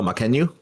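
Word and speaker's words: Mackenyu: you say Mariku the Zoro um oh Mckenyu Mckenyu I think I think he actually was the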